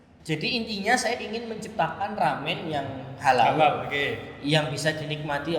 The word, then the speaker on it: ramen: Dan waktu di Cina itu orang bilangnya tuh lamian. Ketika orang Jepang mencoba pronounce L itu kan nggak bisa. Susah ya. R. Nah, akhirnya dibener ramen. Nah, akhirnya jadi ramen itu tadi.